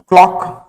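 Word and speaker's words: clock: एक और हम एग्जांपल देख सकते हैं, क्लॉक। यहां पे भी सी का प्रोनाउंसिएशन नहीं किया जाता है। किसका प्रोनाउंसिएशन करते हैं? सिर्फ हम के का प्रोनाउंसिएशन करते हैं।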